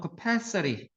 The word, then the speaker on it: capacity: 얘는 발음이 액센트가 ITY라고 생각 여기 액센트 오니까 얘는 capacity였어. capacity예요. 발음하면 capacity 이렇게 발음하죠. 여기 액센트입니다.